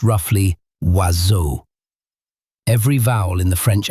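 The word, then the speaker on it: oiseaux: birds written asu uses seven letters and not a single one of them is pronounced in the way an English speaker would predict. The word is pronounced roughly wazu.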